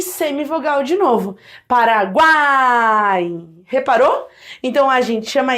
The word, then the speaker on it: Paraguai: Ó, Paraguai. Repara que o U é fraco, o A é forte e o I é fraco de novo. Porque, ó, semivogal, vogal e semivogal de novo. Paraguai.